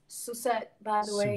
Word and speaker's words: Sussett: My second name is pronounced Sussett, by the way. Sussett.